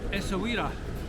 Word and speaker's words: Essaouira: Good afternoon from Essaouira. Pronounced perfectly for once.